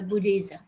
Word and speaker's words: Buddhism: We don't pronounce this one that Buddhism, no. Buddhism, no. Okay, so Buddhism.